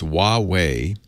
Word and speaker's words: Huawei: this is it wah whee whoo-hoo wah it's Huawei they announced a phone a couple months ago